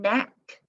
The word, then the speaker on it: knack: Then we have the N spelled with KN, like kneel, knee, knock, knot, knife, knit, and knack, and oh, knit's down there.